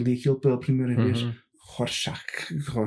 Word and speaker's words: Rorschach: Rorschach. É o Rocha. Quantos X aqui isto tem? O Alan Moore inclui lá uma pista para a pronúncia, que é a piada Raw Shark, mas que em brasileiro não dá.